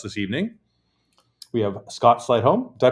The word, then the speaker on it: Sleightholm: We have Scott Sleightholm. Did I pronounce that properly?